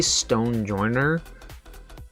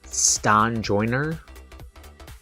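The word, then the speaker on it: Stonjourner: his Pokemon's name wrong I say Stone Joiner but it's like Stan Joiner stone journe or something like that and it's it with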